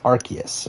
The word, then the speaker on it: Arceus: Arceus, right? That's how you pronounce it.